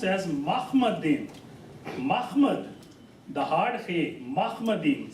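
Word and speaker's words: מחמדים: Now Hebrew word for altogether lovely is pronounced as Mahmadim. Mahmad. The hard he, Mahmadim. Some people can't pronounce this one, so Mahmadim. So in any way, it's Ma. It's not Mu like Muhammad.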